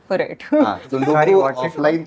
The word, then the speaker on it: tsundoku: Sundoku. TSUNDOKU. Comes from a Japanese language, which is Pronounced as Sudoku. Sundoku. Starts with a T but pronounced with an S.